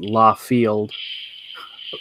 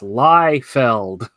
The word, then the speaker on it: Liefeld: livestream he's corrected someone who said his last name wrong it was even worse than la field Feld he got hyper and said it's Liefeld he's a hyper guy